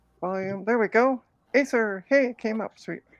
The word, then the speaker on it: Acer: am there we go Acer hey came up sweet it's pronounced acre that's randomly weird but okay sweet so